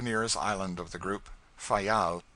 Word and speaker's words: Fayal: island of the group fayal the people there pronounce it file and put the accent on the first syllable we anchored in the